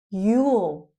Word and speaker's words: you'll: You will. You'll fuel.